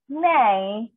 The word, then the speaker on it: nej: তো জানি না ইংলিশ নেই নেই NEJ এটা তো নেজ হওয়ার কথা বাট ইটস নেই কারণ যে প্রোনাউন্সিয়েশন কিন্তু